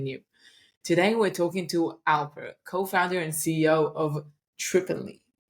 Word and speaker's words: Alper: to start something new today we're talking to Alper co-founder and CEO of triply aler how are you doing did I pronounce that right yeah yeah excellent perfect thank